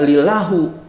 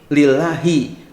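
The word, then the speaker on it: لِلَّهِ: Kan dibacanya enggak lilahu, enggak lilaha, tapi lillahi. Kenapa? Karena li itu adalah huruf jar.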